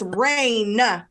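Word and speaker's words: Raine: It's spelled differently. And it's Rain.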